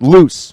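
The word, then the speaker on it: Luz: it's luu Z and it's actually pronounced loose right that's matias's mom's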